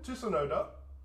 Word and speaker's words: Tsunoda: How do you pronounce it, Ben? Tsunoda.